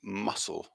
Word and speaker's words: muscle: in there as well so muscle with the silent letter we're saying of c because it doesn't have that hard sound that's so it's muscle muscle like i said